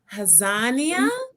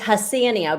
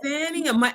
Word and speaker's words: Hassannia: My guest, Nicole Hassannia. Close enough. It's Hassannia, but no one gets it. Hassannia.